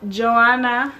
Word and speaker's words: Joanna: y'all it's your girl joanna that's how you actually pronounce my name if any of y'all